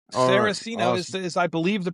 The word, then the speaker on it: Saraceno: Sarosino is is I believe the pronunciation, which is funny because I'm actually my